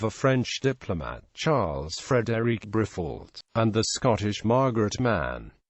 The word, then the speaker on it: Briffault: Asked how to pronounce his name, Briffault told the Literary Digest, "Should be pronounced Briffault, without attempting to give it a French pronunciation."